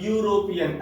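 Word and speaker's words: European: लेकिन अगर इसका हम प्रोनाउंसिएशन करेंगे, साउंड की बात हो रही है, अगर प्रोनाउंसिएशन करेंगे तो यूरोपियन ऐसा कुछ आएगा।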